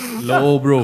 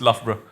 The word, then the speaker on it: Loughborough: How do you pronounce that? Lobro. Low, bro. Correct. Yeah, It's correct. close. Loughborough. It's Loughborough. Oh, Yeah, Loughborough.